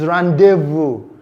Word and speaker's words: rendezvous: And we know that in many of our French words, it is always silent, like the word rendezvous, not rendezvous, it's rendezvous. It is not pronounced.